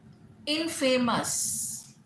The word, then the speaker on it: infamous: Infamous, INNFAMOUS, infamous. Again ये गलत pronunciation है. Infamous, infamous, infamous, right, like that.